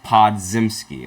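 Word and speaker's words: Podziemski: lot of messages oh my gosh okay he pod zimsky okay that's how you pronounce his name that's fantastic crucial PG said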